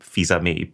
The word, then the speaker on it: Fils-Aimé: I think it's actually pronounced Reggie Fils-Aimé, but I prefer my version.